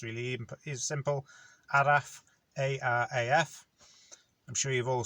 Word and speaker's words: araf: of the day is araf which i can spell this one on the screen because if you read it in english you'll say it right so it's really even is simple adaf a-r-a-f i'm sure you've